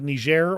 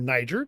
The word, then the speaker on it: Niger: our troops out of ner or Niger depending on how you want to pronounce it today and this article basically